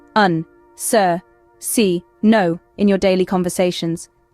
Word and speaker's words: se: profor now let's learn C this one is a bit tricky it can mean oneself or himself or herself or itself depending on the context it's pronounced like say an example sentence would